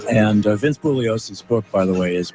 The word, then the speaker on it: Bugliosi: it's really it's it's his last name is spelled like there's a g like it's bugliosi although he always uh kept the G silent so anyhow thanks so